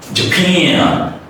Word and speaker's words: Japan: The first A is reduced. The next A has a gliding sound, but at the same time, we have to stretch it. So it's become like Japan.